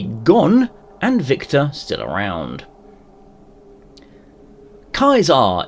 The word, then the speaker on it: Caesar: Kaisar is, as far as we know, how it is pronounced in Latin.